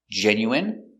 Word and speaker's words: genuine: So we're going to practice the pronunciation of the sound in for ine. Example, medicine, margarine, intestine, genuine, famine, and jasmine.